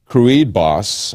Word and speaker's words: Kruidbos: Now, what happened was this IT manager, and I don't know how to pronounce his last name, it's Ben Kruidbos, I think is the way you pronounce his name.